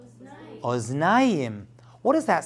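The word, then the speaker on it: אוזניים: In plural, it's oznayim.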